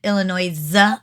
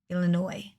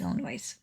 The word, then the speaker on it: Illinois: If you pronounce it Illinois, I smack you. Just saying. Because that is not Illinois either. Illinois.